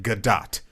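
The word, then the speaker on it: Gadot: It's pronounced Godot because Galdo, whatever, however you want to say it. yeah, no, It's a soft T.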